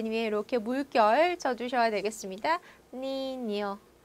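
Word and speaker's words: niño: 니뇨, 니뇨, 에스파냐, 에스파냐. 그래서 얘는 아이유를 만났을 때 냐냐 니뇨뇨 가 되는 발음이죠.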